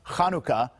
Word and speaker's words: Hanukkah: with a ch well in hebrew the word is pronounced chanukah so that's why it gets a ch in a lot of